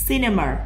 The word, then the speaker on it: cinema: Cinema cũng là âm S.